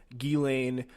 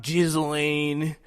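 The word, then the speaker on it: Ghislaine: guiley maxwell arrested and it is gelane uh the way i understand that is how you say it it is not gizzling no uh but yeah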